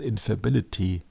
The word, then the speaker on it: infallibility: That means that as a Catholic you cannot question it because the Pope tells that with infallibility. Come on, Brad, is it correctly pronounced infallibility?